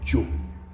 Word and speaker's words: Jo: word Zo, which we in Ghana and Central Ewe we say Jo. That's spelled like J-O, Jo.